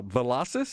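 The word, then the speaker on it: Velocys: to be locating in your your area uh velocis is that how you pronounce it that's right that's right gerard the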